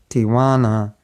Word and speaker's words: Tijuana: and California borders a city called Tijuana, pronounced with a Mexican accent, Tijuana.